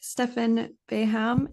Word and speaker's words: Stefan Beham: how are you so today I'm joined by Stefan baham is that how you pronounce her name yeah exactly okay and you're